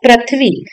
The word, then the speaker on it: पृथ्वी: पृथ्वी है ये है पृथ्वी लेकिन उसका उच्चारण है पृथ्वी जब यह र की मात्रा हमारे वर्ण प के नीचे लगता है तो प्रू कहलाता है पृथ्वी ना कि पृथ्वी